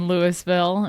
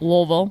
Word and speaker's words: Louisville: They say Salida instead of Celita and Lewisville instead of Louisville.